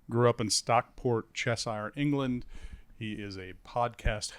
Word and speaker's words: Cheshire: Oh, Cheshire.